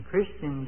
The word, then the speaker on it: Christian: I wish we had started pronouncing it Christ-ian and Christ-ianity instead of Christian and Christianity. That messes up the emphasis. Get the emphasis where it belongs.